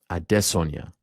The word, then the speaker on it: Adesanya: Note the pronunciation. Adesanya.